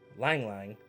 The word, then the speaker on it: ylang ylang: this is Christmas lilies we have Casablanca lilies ylang ylang just got confirmation while I was filming this of the pronunciation so thank you Shane pink pepper and